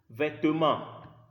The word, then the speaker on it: vêtements: I did not say vêtements or vêtements because the letter E in the middle of the word doesn't carry any sign. So it's E.